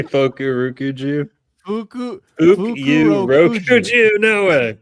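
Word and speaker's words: Fukurokuju: How do we pronounce it? Fuku Rokuju. It's literally Fukurukuju.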